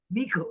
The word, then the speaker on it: Miyoko: sounds like, I don't know how you say her name, but Lisa, that book, Makayo, you Miko. said it, Miko is how you say it.